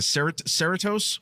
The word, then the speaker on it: Cerritos: Well, and wait, and don't you want to see, I'm pronouncing this wrong, the Cerritos, what's their ship? Cerritos. Yes, Cerritos.